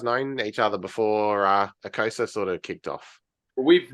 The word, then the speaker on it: Ekosa: guess before he start is it eosa or eosa how am I supposed to say this oh aosa aosa gotcha yeah that's how I usually say it likea so easy all